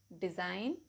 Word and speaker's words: design: Rule number 1, जी is usually silent before n. For example, design, assign, reign, campaign, line, foreign, new, resign, benign.